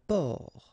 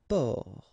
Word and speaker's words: port: Un port, un port. Okay, exactly the same thing here. Only the last letter is different. You don't pronounce it, and then both of them are masculine.